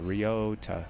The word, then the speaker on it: Riota: Riota. Riota. Yeah, that's that's how you say it.